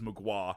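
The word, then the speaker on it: Mgła: It's Polish for fog. Oh, Magua. okay, It's how you pronounce it, Magua, like that, but it's MGLA is how you would spell it.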